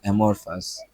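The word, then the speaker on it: amorphous: প্রনাসিয়েশন ওকে আমরা একটু প্রনাউন্সেশনটা দেখে নেই কার এমর ফাস্ট রাইট এমরফাস এটার মানে হল অকার বা আকারহীন এমরফাস অকার বা আকারহীন কে আমাদের আল্লাহ তালা কি এমরফাস ফরমলেসমরফাস ফরমলেস শেপলেসমরফাস লাম্প অফ ক্লেশ শেপলেস সিম্পল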